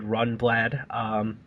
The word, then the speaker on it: Rundblad: I guess I did mispronounce it. That is David Rundblad.